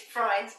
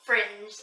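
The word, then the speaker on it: Frijns: so I now know the proper way to say Robin Freins is Freins, not Fringe, as in fringe.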